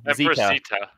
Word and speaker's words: Zita: Zita. Yeah, Empress Zita. I couldn't figure out how to pronounce it.